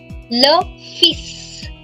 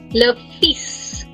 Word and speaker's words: le fils: Son is called, again, in this case, L is silent and S is pronounced. Le fils. वही गीत का. Le fils.